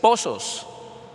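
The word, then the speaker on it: πόσος: aparece aquí como tiempo es pozos p o con acento en la o s o s Pozos está en el numeral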